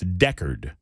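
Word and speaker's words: Decherd: answer is no and thank you for the pronunciation guide from Grant and from 2862 and from others like 1087 it's Deckard I think I'm doing that right Nick says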